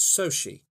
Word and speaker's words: Xochitl: you on Wikipedia, so her first name is spelled Xochitl, apparently pronounced Sochi.